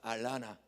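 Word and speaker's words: Atlanta: 따라서 알라나. 그것도 모르면 따라서 에나나. 영어도 발음을 좀 수준 높게 하셔야 돼요.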